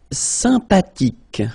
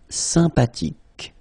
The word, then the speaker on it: sympathique: Sympathique. Remember the H. H is not pronounced. Sympathique.